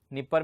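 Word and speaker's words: Dnieper: ये है यूरोप के अंदर जो इतनी भी डी से स्टार्ट हो रही है, निपर में भी डी स्टार्ट है, डी साइलेंट है, नीस्टर में भी डी साइलेंट है।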